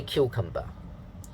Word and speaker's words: cucumber: the ipa pay attention the stress pattern or the pitch pattern is da da da cucumber okay if you say cucumber the dada is wrong okay uh this is what i hear in hong kong a lot of people say cucumber so it's wrong okay i'm very sure it's wrong so please say cucumber okay let's practice reading